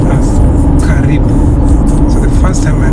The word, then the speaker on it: karibu: It's only now word uh welcome which is pronounced as karibu.